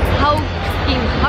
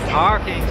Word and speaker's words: Hawkins: Hawking. Hawkins, sí.